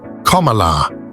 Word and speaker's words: Kamala: her name is pronounced commala similar to the punctuation mark and that it means